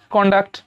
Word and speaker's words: conduct: সির পরে ও, তিনজনের মধ্যে কেউ নেই, ই আই এবং ও এর মধ্যে কেউ নেই, তাই উচ্চারণটা হবে কন্ডাক্ট।